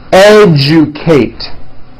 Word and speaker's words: educate: That has also an unusual pronunciation. Let me break it down for you. Educate. Educate.